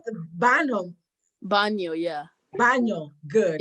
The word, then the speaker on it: baño: Baño, yeah. Baño, good. The N has an accent mark, so it's like baño, yeah.